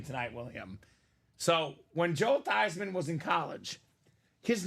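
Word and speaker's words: Theismann: your name to thyman so it's thyman for the Heisman now he was a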